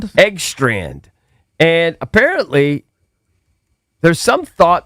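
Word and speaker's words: Engstrand: Eggstrand.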